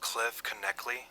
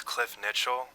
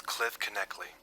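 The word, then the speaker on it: Cliff Knechtle: I'm pretty sure it's pronounced Cliff Kley. For a while there, I thought it was Cliff Nitchell, but eventually I learned that it was Cliff Kley.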